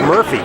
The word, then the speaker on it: Murphy: met you how that your name was pronounced Murphy, because the way you spell it, M-U-R-Q-P-H-Y, the Q is silent, and I would never have guessed that.